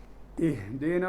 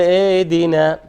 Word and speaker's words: اهدنا: الهاء حرف ضعيف خفي. Very light sound should be ha. فلا بد، بما أنه خفي وضعيف، إذن لا بد من الاهتمام به وإبرازه، وإلا هو يتحول إلى همزة. هو يتحول عادة إلى همزة.